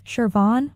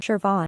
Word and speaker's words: Siobhan: as in sit and the O sounds like o as in bone so it becomes shervon or shervon Von V